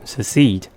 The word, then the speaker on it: secede: of e double is d so we have secede the first c says since is followed by